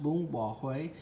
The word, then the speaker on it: bún bò Huế: It's pronounced bún bò Huế.